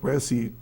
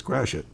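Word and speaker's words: Gratiot: If you go to Point G R A T I O T, it's not Point Grassy Graat, it's Grassit.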